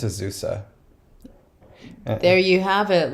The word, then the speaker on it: Azusa: I've heard Asusa, like where the Z is pronounced like an S, but well, the S is pronounced like a Z.